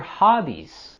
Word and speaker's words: hobbies: Here we're also going to have our falling intonation and pay close attention to the Z sound at the end of hobbies.